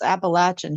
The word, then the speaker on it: Appalachian: appalation I'm like there's no sh in there it's a appalache it's like think of uh Eve throwing an Apple at you know Adam appach apple you may have solved